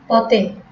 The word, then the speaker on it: পথে: পদের অন্তে বা শেষে এ এর উচ্চারণ কি হয়? সম্বৃত হয়। যেমন পথে, পথে, ঘাটে, ঘাটে, দোষে, দোষে, গুণে, গুণে।